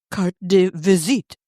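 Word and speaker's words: carte de visite: in 1903 at the age of 63 a card a visit or as the French would pronounce it will you do that Kelly you did it better than me c de visit there you go do you know what that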